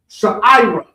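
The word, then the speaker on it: sha'irah: So the word barley, which was the first harvest that we would do in Israel, is barley would be sha'ira.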